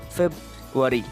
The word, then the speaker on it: February: many things we pronounce but the right one is February the right thing is February so our again comes silent sure so the spelling